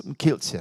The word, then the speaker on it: Kielce: And the sense actually that, and of course the Kielce, I'm not pronouncing it right, pogrom in Poland was absolutely, yes, Kielce, thank you, was an absolute revival of the blood libel.